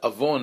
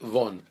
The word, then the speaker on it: Avon: So the name of the rabbi is really Rabbi Avon, but they could not pronounce the Avon. They would say Von.